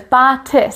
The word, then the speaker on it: batis: The next one is batis. So we're combining two motions, bot and tis. Bot, like a robot, and tis, like we did in the first and second week, that rhymes with kiss.